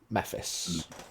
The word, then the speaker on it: Mephis: the dragon born fella mephis I think that's how I pronounced it last time if not that's what we're going with m e p h